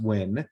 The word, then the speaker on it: Nguyen: brian we've got nank nguyen i know how to say that because i've met people with that last name pronounced win from denver colorado and